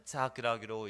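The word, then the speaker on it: יצחק: 이삭이라는 것이 원문으로 이렇게 하면은 이삭이라고 읽게 되는데, 이 이름은 착이라는 웃다라는 단어에서 나왔습니다. 착.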